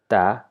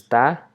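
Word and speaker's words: ت: This is Ta, same formation like of that of ba, but instead of the dot going below the line, this time the two dots goes above the boat-like structure to form the letter ta, and it's pronounced as the. The sound that it gives is the. Not ta, not with no ta, it's the. Sound is the, and the name of the letter is ta.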